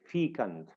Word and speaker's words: fecund: two slashes uh that the stress is placed on Feen the first syllable Fe we say feon all right able to